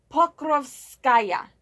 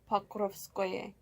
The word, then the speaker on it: Pokrovskoye: Pokrovskaya. No. Is it Pokrovskoye? There we go. Pokrovskoye.